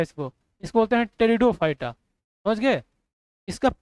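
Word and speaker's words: Pteridophyta: क्या होगा क्या बोलेंगे पेट उसको पी साइलेंट है इसको इसको बोलते टेरिडोफाइटा समझ गए इसका पी साइलेंट है इसको बोलते ड फाइटा समझ गए पेट मत बोल देना और यह वाला देखो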